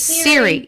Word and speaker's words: Siri: answer you I think I do say Hey Siri it's Siri yeah not sorry she popped up oh